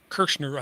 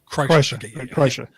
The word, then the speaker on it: Kreischer: And we were, we went and saw Bert Kirshner, I think is how you pronounce his name, The Machine, live in the Baltimore Arena. Kreischer.